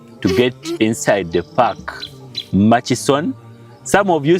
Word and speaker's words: Murchison: Mas FS maction maction some of you say maction it's m ma it's machis machon yeah machon FS okay yeah that's the right spelling you all see